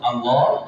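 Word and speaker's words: الله: ah gitu termasuk Allah jadi Allah itu tidak boleh o tidak boleh mayun maksudnya jadi bukan Allah itu Tapi Allah Allah tapi tetap te tebal.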